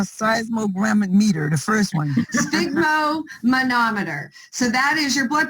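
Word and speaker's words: sphygmomanometer: your blood pressure cuff it's a sigmo manometer is how you say it so you just want to take this sigma and then it's just a manometer okay okay all right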